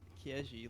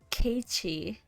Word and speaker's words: Keiichi: bumpkin, and here's like, and then here appears Kieji, like, "Hi guys, I can beat you because I'm a man." Why do you say it like Fucking Kieji? woman. Kieji, Kieji-kun. It's Keiichi.